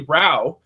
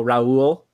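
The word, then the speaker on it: Rau: okay, it's clearly Rao, but then I was thinking like, hold on, if you're Canadian, then you would pronounce the word about a boat, and since it's ow, the like my linguistics mind is going to like, okay, well, the linguistical feature of ow in Canadian English is pronounced O, so it's Rowe, which is what every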